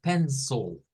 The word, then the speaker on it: pencil: es un shua y una l entonces la pronunciación para un eh un un lápiz en inglés es pencil pencil con el sha entonces así como se